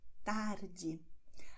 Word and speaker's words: tarde: In vielen Regionen von Brasilien wird R als H ausgesprochen. Zum Beispiel Nachmittag haben wir schon gelernt. Das heißt tarde.